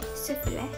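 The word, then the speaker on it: スフレ: Sufure. Because in Japanese it's sufure.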